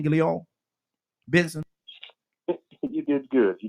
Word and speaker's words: Guillaume: Ain't that how you say his name, Guillaume? Benson. You did good. You did pretty good, Guillaume.